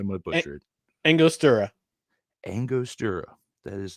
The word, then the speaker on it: Angostura: All right, help me out with this pronunciation. I'm going to butcher it. Angostura.